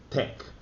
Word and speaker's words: TeX: computer scientist donald knuth invented tech which is pronounced tech since t a x the greek letters tau